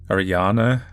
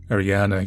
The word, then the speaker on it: Ariane: loved reading these so considering that this game is pretty much all German I guess that would be pronounced like Ariana they seem to pronounce